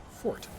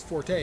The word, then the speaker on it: forte: five or Forte sorry the word that we normally pronounce Forte is actually Fort unless you're referring to music and this character is a Bard so referring to music in which case it is pronounced Forte foreign so I'm currently